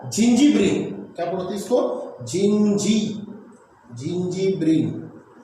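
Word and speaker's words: zingiberene: झिंगी Brin? नहीं, इसको पढ़ते बेटा जिंजीब्रिन।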